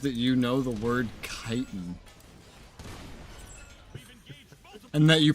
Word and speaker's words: chitin: I don't know why, but I'm honestly just amazed that you know the word chitin. And that you pronounce it like that and not like chitin.